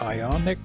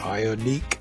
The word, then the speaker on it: Ioniq: the uh I the Hyundai ionic or ionique for those of you that want to pronounce it that way five limited all-wheel drive